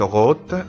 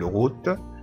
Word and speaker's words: route: الأو تنطق أو ما نقولش روت، لا غلط نقول روت.